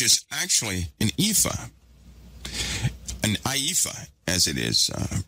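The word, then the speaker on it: ephah: this IFA which is actually an IFA an aifa as it is uh pronounced is a most people say basket right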